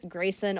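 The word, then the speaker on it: Gracyn: that's my main type of deal and it's Grayson on air my name is spelled pretty weird g r a c y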